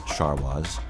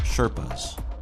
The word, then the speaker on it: Sharwa: Before long, the world discovered these Sharwas, whose name was later misunderstood and pronounced Sherpas.